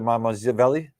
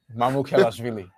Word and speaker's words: Mamukelashvili: Sasha Mamazvili? Mamukelashvili.